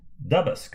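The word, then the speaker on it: Duboscq: that's pronounced uh here we go jules let's pronounce his name correctly jules doubles dubask okay it's a double colorimeter and the modern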